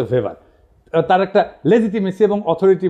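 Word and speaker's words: Weber: আর একজন দার্শনিক আছে ম্যাক্স ভেবার, এটা ওয়েবার বলে অনেকে, এটা উচ্চারণ আসলে ভেবার।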